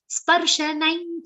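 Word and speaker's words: स्पर्शनम्: Sparshanain cha. Sa is half pa is complete, followed by half ra and a complete sha.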